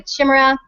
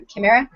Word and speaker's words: Chima: purchase eagerly awaiting the Chima uh sorry Chima uh Kima oh I always mess up that pronunciation Melissa has just told me it's Cima Kima it's been in process